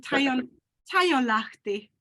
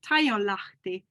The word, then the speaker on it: Taijonlahti: It sounds so boring, but I mean Taijonlahti. It's how my father pronounced it. Taijonlahti.